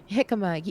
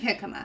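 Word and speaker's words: jicama: they're a root vegetable I think it's hik is that it's spelled hikma is that it hikma I think hikma and I yeah yeah it starts it's like j i c a m a or something like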